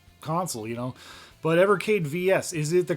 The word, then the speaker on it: VS: I'm here to discuss how do you pronounce evercade vs is it as in vs or is it versus me personally I call it the evercade vs I've always called it that um or you know